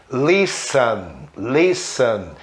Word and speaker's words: listen: Mas o T é mudo normalmente depois da letra S, né? Mas existem palavras em inglês que tem T depois da letra S e o T é pronunciado, como street, né? Rua em inglês. Reparem, Christmas, listen, Christmas, Natal, né?